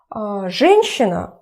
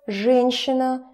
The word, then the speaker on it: женщина: If it's something connected with a woman, женщина, мужчина, женщина, a woman. She, на, женщина, женщина. About pronunciation, remember that hard consonants followed by soft consonants become soft themselves.